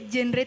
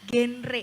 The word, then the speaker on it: genre: Jenre itu apa sih? Jenre musik kah? Pop koplo gitu bukan ya? Cara bacanya adalah duta genre. Jadi Heeh. genre genre.